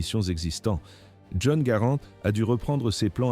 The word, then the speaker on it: Garand: Faut-il dire garantur ou girand. La plupart des gens écorchent le nom. Nous utiliserons la prononciation correcte garant.